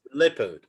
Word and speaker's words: leopard: the strangest of spelling so it's leopard leopard although it's written eo so anyone who sees non-natives of course they cannot guess it easily of course you have leopard to pronounce that leopard it's not easy at all to guess it so it's not one